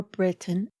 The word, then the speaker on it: Breton: age of great elizabeth nicholas breton or britain as it is pronounced and william brown were